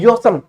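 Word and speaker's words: awesome: औसम बोलते हैं वैसे यदि देखा जाए स्पेलिंग के अनुसार तो अवेसम कुण के, ये औसम पढ़ाते हैं। आपको औसम कहना ही नहीं है, आपको औसम नहीं कहना, आपको कहना है योसम।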